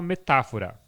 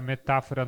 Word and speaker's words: metáfora: E a outra seria uma metáfora. A-F-O-R-A. With an accent on the first A.